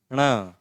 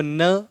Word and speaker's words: ण: ट ठ ड ढ ण अब इसका प्रोशन देखो इसका उच्चारण क्या है ये है ण कैसे ण आप इसको न नहीं बोलेंगे न तो यह है